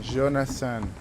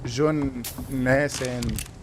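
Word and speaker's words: Jonathan: جوناثان مش جون ناسان سمي ده في الانمي.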